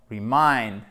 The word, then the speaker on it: remind: verbe remind remind ok donc fait bien attention remind avec un accent tonique excusez moi sur la deuxième syllabe donc michel pour dire